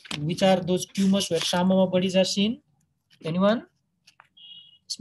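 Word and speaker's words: psammoma: This P is silent here, samoma bodies. And there are certain other conditions where samoma bodies is seen.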